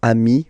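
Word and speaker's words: amis: you will get okayi so Ami remember doesn't change even if you you get to write the S then you don't pronounce it okay and now let's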